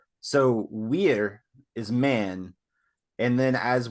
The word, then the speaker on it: vir: So the Latin word for man is wir, but it's spelled VIR because all V's in Latin are pronounced as W's. So wir is man, and then